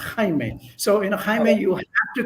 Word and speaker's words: Jaime: natural by the way in Spanish my name is is pronounced Kime so inim you have